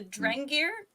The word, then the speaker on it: Drengir: I can never pronounce anything, and I feel terrible about it, but the Drengir, is that how you guys have been saying it? Yep.